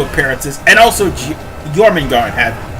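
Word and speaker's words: Jörmungandr: Okay, I mispronounced his name. It's Jormungand, but still.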